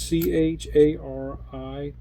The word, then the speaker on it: Chariton: I think I pronounced Chariton correctly. It's Chariton.